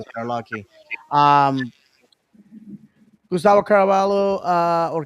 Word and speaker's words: Caraballo: Um, Gustavo Caraballo, or Caraballo, if you want to say it like you should.